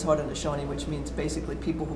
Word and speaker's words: Haudenosaunee: Did I even pronounce it right? Yeah, you did, Haudenosaunee. It was close enough. That is their name in their language. Oh, and really? In various languages, it is pronounced a little differently.